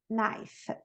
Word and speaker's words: knife: KN, como a gente viu antes, tem muita palavra com KN que a gente vai usar essa regrinha. Knee, no, knife.